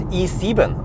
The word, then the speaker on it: i7: in there wait wait how do you pronounce i you don't say i7 in German right you say e e e no that sounds weird that doesn't sound right huh seriously there is no traffic in the left lane dude what the heck are you doing man blocking the left lane for no reason uh man e okay e it's E7 okay that's how they say is it's a BMV